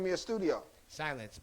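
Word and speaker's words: Psylenc: name of your studio silence p-s-y-l-e-n-c oh it's spelled with a p like psychedelic psychoactive uh psychology uh i made it up when i was like 14.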